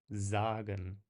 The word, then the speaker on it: sagen: There's no vibration to it, whereas a standard single S kind of vibrates. Sehen, sagen.